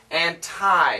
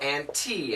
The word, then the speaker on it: anti: Or anti, as in a cup of tea. Those are the best pronunciations. Anni, Annie, that's for real native English speakers when they're talking with each other and maybe debating. You can hear that. So anti, anti, both are fine.